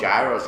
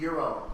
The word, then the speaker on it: gyro: the Except the October- gyros are terrible. I liked it. It was pretty good. It's euro. Pronounced euro. Yeah. Gyros. We say gyro. That's what we call them in New York, gyros.